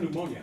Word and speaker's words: pneumonia: Why the heck does pneumonia start with a P? Well, because pneumonia, or the English language, is in part based on Latin, and Latin began it with a silent P.